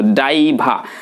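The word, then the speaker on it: diver: তো যাই হোক, একটা কি বললাম যেন, আমি একজন ডুবুরি, তাহলে বলবো আমার ড্রাইভার না কিন্তু ডাইভা, আমার ড্রাইভার, আই অ্যাম এ ড্রাইভার, বানানটা দেখবেন তাহলে হয়ে যাবে।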